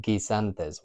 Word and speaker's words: guisantes: with the G is sometimes it's followed by a U and then an I or an E, and that gives us that hard G sound. The U kind of protects the hard G sound, like in the word guisantes, which are peas, like garden peas in Spain.